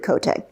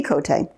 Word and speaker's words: Cote: school science teachers and he pronounced it kotay so it's Andy kotay and it's a French Canadian name and so I thought